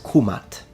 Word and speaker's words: Kemet: the dialect we know that linguistically speaking the pronunciation KET has no academic linguistic dignity it clearly comes